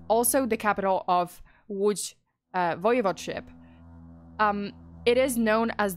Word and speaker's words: Łódź: And yes, this name, this horrific name of the city is pronounced as Łódź. Okay, so Łódź is the third largest city in Poland.